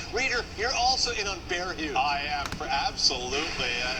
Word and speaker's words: Hughes: Reader, you're also in on Bear Hughes. I am, absolutely. Bear Hughes. That's how they say it.